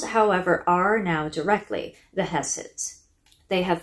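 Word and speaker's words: Höss: The Dahls are based on the Hesses or Husses. It's spelled H-O-S-S in German and H-E-S-S when it's Americanized. So I'm going to go with Hess.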